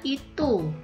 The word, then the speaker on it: itoe: Huruf OE untuk menuliskan bunyi U seperti pada kata itu tapi penulisannya itoe ya.